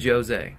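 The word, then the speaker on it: José: Is it Jose or Jose? It's actually Jose. I did not know that. Yeah. He's a living legend. I would have assumed it was Jose. Most people do because it's spelled Jose. Would have been wrong.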